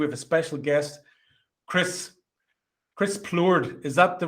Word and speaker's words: Plourde: and today we have a special guest, Chris Plourde. Is that the right way to pronounce it? Is it a French? Very close. There you Plourde, yes. Plourde.